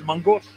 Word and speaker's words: main gauche: Alex Steele sent me the correct pronunciation for Main Gauche, which is Mangosh.